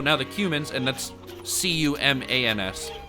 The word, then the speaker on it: Cumans: So now the Cumans, and that's C-U-M-A-N-S, not humans. Cumans. I think that's how you pronounce it. Kind of like the herb cumin or whatnot.